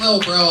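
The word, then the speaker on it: Lil Brough: He spells bro with 3 silent letters at the end.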